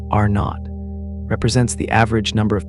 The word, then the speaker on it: R0: R0 pronounced R not represents the average number